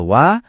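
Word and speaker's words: は: Soalnya walaupun ditulis pakai huruf hiragana untuk H, pas dia jadi penanda topik, kita bacanya wa.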